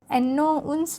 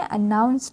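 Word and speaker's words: announce: the team leader अनाउंस क्या पढ़ेंगे एनो उन पढ़ेंगे ठीक है एनो उ पढ़ के हम इसको उच्चारण क्या करते हैं अनाउंस पढ़ते हैं ओके अनाउंस द ल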